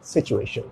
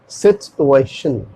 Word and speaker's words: situation: पढ़ते ऐसे हम लोग क्या बोलते हैं आमतौर पर इंडिया में, सिचुएशन, सिचुएशन, लेकिन इसका करेक्ट प्रोनाउंसिएशन होगा सिचुएशन, सिचुएशन, सिचुएशन। इसमें क्या होता था, सिचुएशन में टी वर्ड गायब हो जाता था, तो लेकिन इसमें